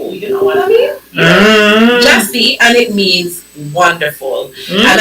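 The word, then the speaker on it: Gyasi: It's pronounced Jessie. Oh wow. How we spell? Oh yes. Jessie. G Y A S I G Y A S I and then it's pronounced J A H S E E you know it it's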